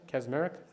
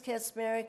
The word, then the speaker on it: Kazmarek: Sister Kazmarek. Hope I pronounced that right, sister. Yes, sir. Good evening, Councilor and President Sanchez and councilors. My name is Sister Kazmarek.